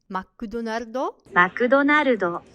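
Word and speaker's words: マクドナルド: But instead of the original pronunciation, they would immediately start using the Japanese alternative, which is McDonaldo, which is much easier for Japanese people to say in order to organize a unified strategy of expansion.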